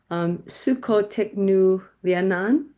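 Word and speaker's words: Su Cô Thích Nữ Liên Anh: I don't want to mispronounce it. Sukhotiknu Lianan.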